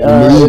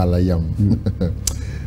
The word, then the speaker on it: Elohim: Ah, Que vous appelez Elohim. dans Elohim, dans une mauvaise prononciation. Oui. Sont attachés à Alayam. Parce que dans l'hébreu paléo, la voyelle et O n'existait pas. Ce sont les Occidentaux, dans leur mauvaise prononciation, qui, dans la place de Al, ils ont dit El. Yam, ils ont dit Yim.